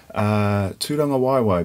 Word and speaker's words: Tūrangawaewae: tea you met Kron don't forget the macron ra in GA w AE w AE - Don the Y